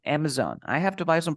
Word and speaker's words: Amazon: river Amazon yeah but remember that we have a z here so we say Amazon Amazon I have to buy some products on Amazon you Amazon yes Amazon